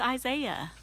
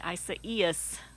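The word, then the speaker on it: Isaias: for me to say i first saw that i thought it's isaiah hurricane isaiah and then i heard a weather forecaster pronounce it and i was like okay isa is so anyway um as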